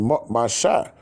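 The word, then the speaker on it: משה: And he became her son, and she called his name Mashah. That's the proper way to pronounce Moses.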